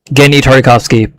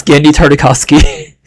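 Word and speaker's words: Genndy Tartakovsky: Genny Tartakovsky, by the way. That's how it's pronounced.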